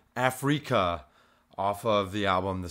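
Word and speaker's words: Afreaka: This one is called Afrika, off of the album The Sixth Sense, but it's spelled A-F-R-E-A-K-A. So it's like Africa, but with freak in the middle.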